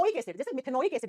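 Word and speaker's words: मेथेनोइक एसिड: ओइक एसिड, जैसे मिथेनोइक एसिड, example दिया ना मैंने, मिथेनोलिक थोड़ी होता है, मिथेनोइक एसिड, इथेनोइक एसिड, है ना।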